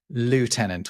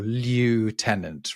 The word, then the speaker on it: lieutenant: look at it it's obviously lieutenant or lieutenant right it's from the French liol which means exactly placeholder so why on earth are the British and I think the Canadians as well the Australians why are they saying lef tenant we don't really know